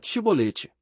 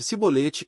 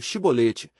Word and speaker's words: chibolete: Se o fugitivo dizia que não, os guardas exigiam que ele pronunciasse a palavra chibolete. Se ele não fosse capaz pronunciar a palavra e ele pronunciasse cibolete em vez de chibolete, ficava claro que estava mentindo.